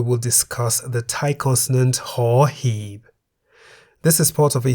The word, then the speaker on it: ห หีบ: The Thai consonant ห หีบ sounds like a H at the beginning of a syllable. ห When ห หีบ is however immediately followed by any of these low class consonants, ห หีบ is a silent initial consonant.